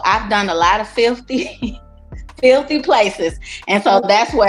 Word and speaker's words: Filthe: So what I did was drop the Y and added the E so it could still sound like filthy.